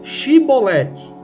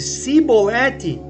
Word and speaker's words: chibolete: eles dizerem a palavra chibolete mas se eles não conseguissem pronunciar o CH e falassem se bolete eles eram mortos hoje